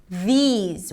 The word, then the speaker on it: these: These we begin with a voice th V. But here we have high e sound these ending with a z sound.